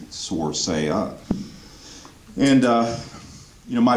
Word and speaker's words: Sorsaia: elected because people might not be able to pronounce my name source a up and you know my faint my mom's